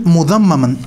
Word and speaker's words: Mudhammam: And mudhammaman, she referred to, now this rhymes with Muhammad.